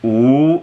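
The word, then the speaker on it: 五: got to finish something in Chinese five is pronounced ooh it's really fun to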